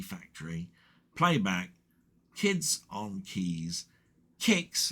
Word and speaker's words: Qix: Um, and he did Atari 8bit gameplay of Candy Factory, Playback, Kids on Keys, Kicks, that's Kicks spelled with a Q, QIX, and Savage Pond.